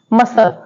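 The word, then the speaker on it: muscle: and next word है मसल मसल में भी सी साइलेंट है जो एस के बाद आ रहा है ओके आप इन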